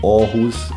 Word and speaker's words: Aarhus: he lives in our who's in Denmark up pronounce it Rama lives in Aarhus in Denmark and yeah I'm really keen the